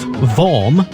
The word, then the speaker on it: Worm: Vorm, pronounced Vorm, spelt worm, but it's not worm, it's Vorm. Motorsport Radio, it's here